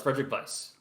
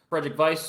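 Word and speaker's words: Frédéric Weis: It is pronounced with like With a the V. V? Yes, as far as I can tell, it's Frederic Weiss.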